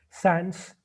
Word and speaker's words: sans: being forgotten by everybody Sans pronounced like some a French word meaning without so you should be